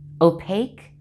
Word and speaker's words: opaque: look at some words where q and u are together but the u does not make a w sound it's silent the q as always is just k but no w sound with it here's some words liquor